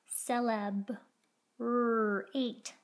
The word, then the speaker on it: celebrate: S-L, sell, eb, celeb, r-ate, celebrate. Celebrate has a soft CC cat C at the beginning.